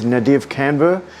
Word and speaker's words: Nadav Kander: I've copied this technique from uh a photographer that has had a lot of influence on me, and I believe his pronunciation is Nadav Kander.